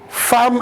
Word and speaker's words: femme: pourquoi est-ce qu'on prononce femme à la place de femme. Mais souvent, il nous a été dit que lorsque deux M précèdent le E, ça devient O. Ça devient A.